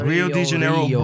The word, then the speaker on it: Rio de Janeiro: I pronouncing that? Yeah. Rio de Janeiro, Brazil.